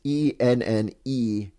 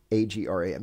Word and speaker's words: Enneagram: to spell that, it's Enneagram. Enneagram. Yeah. So yeah, like you said, like just a telegram. That's right. That's right. Without tele. Without tele and with any in the front.